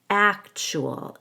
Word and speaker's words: actual: So in actual, I stress the first syllable and then the TU makes a CH sound. We connect the U to the A with a W. Actual. The AL is just a schwa plus L.